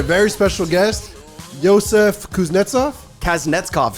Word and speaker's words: Kasnetzkov: Kasnetzkov, super close. Kasnetzkov. I just learned how to say it myself.